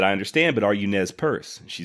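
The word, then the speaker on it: Nez Perce: three separate nes purse pronouncing it nez purse just like i did finally just to be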